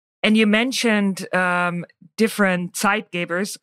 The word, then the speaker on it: Zeitgeber: you mentioned um different side gavers I'm gonna pronounce it the German Way because I'm German uh so site Gaba is is a German